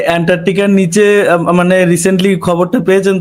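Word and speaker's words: Antarctic: ভাই না, অ্যান্টার্কটিকার নিচে মানে রিসেন্টলি খবরটা পেয়েছেন তো যে অ্যান্টার্কটিকার নিচে যে একটা বিশাল বড় একটা ইয়ে পাওয়া গেছে। উচ্চারণটা অন্তত ঠিক করে করেন, ইংরেজি তো পারেন না।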